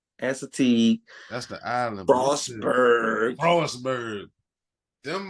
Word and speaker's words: Assateague: Assateague.